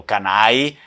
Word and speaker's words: Canal: variações, Canal, da Canal, Canali ou Canai, né, pronúncia típica vêneta, cortando a L.